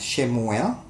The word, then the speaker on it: Shemuel: Nama Samuel, atau mestinya kita mengucapkannya adalah Shemuel, ya, adalah kontraksi dari kata Shema dan kata El.